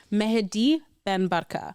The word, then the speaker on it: Mehdi Ben Barka: The hardest part of doing this podcast is pronunciations, but I got you. Mehdi Ben Barka.